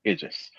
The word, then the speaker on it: Idris: I know how to say his name correctly. Idris.